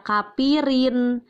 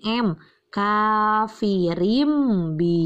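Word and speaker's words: كافرين به: bertemu dengan huruf ba Jangan dibaca kafirin tapi harus berubah jadi m-coffee rimbi Hye Kenapa ini di bacanya berubah jadi m karena ada tanwin bertemu dengan huruf ba dan disebut dengan iqlab Nia itu tiga pembahasan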